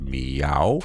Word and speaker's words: MEOVV: It's gonna take a little of time to get used to their name because it's written Meow, but it's actually pronounced Meow.